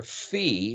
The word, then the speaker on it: phi: Phi is the way it's pronounced, as in philosophy, which has to do